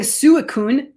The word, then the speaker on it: Suicune: we pronounce i'm saying suicune it's sweet so it's almost like sweet corn sweet corn on the